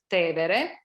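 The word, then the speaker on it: Tevere: the river which we call in english tiber but in italian it's te vere so there is this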